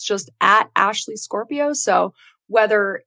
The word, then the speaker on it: Scorpio: said my name is ashley scorpio it's spelt how it sounds like the horoscope sign and it's just the